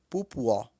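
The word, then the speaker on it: pupọ̀: Mas pronuncia-se pupuó. Por exemplo, axé pupuó. Significa muito axé. Escreve-se P-U-P-O, mas pronuncia-se pupuó. Porque o P tem som de pu.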